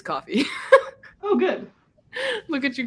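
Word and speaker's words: Ko-fi: me that it's pronounced coffee oh shut up I mean it makes sense because it's buy me a coffee but I have always said Kofi yeah I mean I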